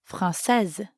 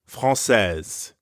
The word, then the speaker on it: française: Instead, I'd say française. Française. Notice the change in the pronunciation, Française.